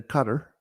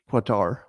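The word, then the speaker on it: Qatar: do yes uh eruan who recently visited a cutter because you call it quatar or quatar or something no and you call his you call him erigon because it's spelled that way no it's erduan went to Cutter so that's how you say it um anyway uh he's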